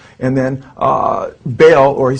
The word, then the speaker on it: Baal: says and then uh baal or he says bell b-e-l or ba all he spells it b-a-a-l how the bible spells baal or baal it's pronounced in hebrew uh which is the